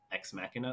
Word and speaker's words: Ex Machina: all right Charlie say Charlie ex machina like deus ex machina oh oh okay nice